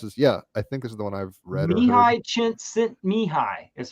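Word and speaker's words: Csíkszentmihályi: Mihi Chint Mihi is how you pronounce that man's name.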